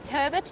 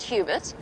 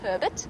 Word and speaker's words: Hubert: I've asked him a couple of times, and he says it's Hubert. It's Herbert. Herbert, not Hubert. Obviously, that's how he wants us to pronounce it. It's spelled slightly different, but he wants it pronounced Herbert. Well, that's how he pronounces his name.